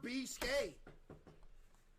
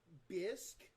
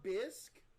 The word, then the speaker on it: bisque: What is a lobster beast? Is it good? It's pronounced Bisk. Lobster bisque.